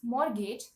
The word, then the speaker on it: mortgage: the next word morgage now many people know it as mortgage but the actual pronunciation is morage the T in that word is silent the spelling in that word is m o r t g a g e so people tend to pronounce the T in that word but in fact it's silent so the pronun the right pronunciation of this word should be mortgage now let's look at the